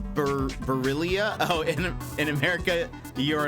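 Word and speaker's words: Barilla: hear about that um in Italy it's pronounced barillia oh in in America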